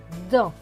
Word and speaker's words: dans: cela donne dans et le s à la fin est écrit en bleu d'eau qui ne se prononcent pas donc ce mot va se lire dans une loi elles et